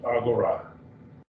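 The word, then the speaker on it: ἀγορά: Agora. 3 syllables, agora.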